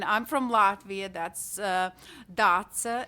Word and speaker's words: Dace: from latvia that's uh datsa is quite common name for girls in latvia but a lot of english speakers find it a little bit challenging to pronounce so i never get